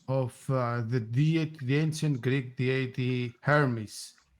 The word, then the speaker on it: Hermes: Herr Hightower, your knowledge of the ancient Greek deity Hermes, or Hermes, as it's pronounced in Greek.